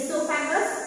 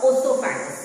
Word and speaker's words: esophagus: It may be said as esophagus or osophagus.